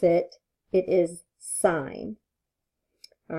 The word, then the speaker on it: sin: but I can explain it to you so sine what we use for that just for emphasis here is s I n but when we pronounce it it is sine all right cosine is c OS but when